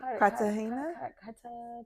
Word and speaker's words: Cartagena: Cartagena?